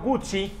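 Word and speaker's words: Guzzi: y para que usted no se equivoque Carlos Gucci fundó la marca de motos moto Gucci y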